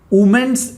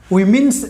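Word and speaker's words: women's: तो इसका भी सही क्या होगा, वीमेंस एटीट्यूड। इसका प्रोनाउंसिएशन जो है दोस्तों, उस प्रोनाउंसिएशन क्या होगा, वीमेंस एटीट्यूड बोलना, वीमेंस। बहुत सारे लोग बोलते हैं वुमेन्स, ओके, वुमेन्स नहीं होता है, वीमेंस।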